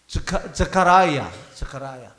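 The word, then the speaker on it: Zechariah: 여기 사실 이게 사가랴라고 번역이 됐지만은요, 영어로는요 스가랴하고 똑같습니다. 발음이 자카라야.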